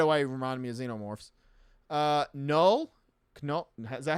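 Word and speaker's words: Knull: Null? Is that how you say his name? Null? Yes, Null.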